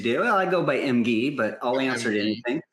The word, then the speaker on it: Emge: Did I pronounce that right? Emge? Yes, you do. Well, I go by Emge, but I'll answer to anything.